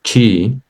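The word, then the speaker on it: qi: So TCM traditional chi Chinese medicine views the body as a 24-hour clock where energy or your chi that is spelled Q I moves through a specific organs at 2our intervals.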